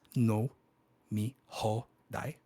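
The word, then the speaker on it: 飲み放題: big words like nomihoudai but nomihoudai pronounced no me ho dai means all you can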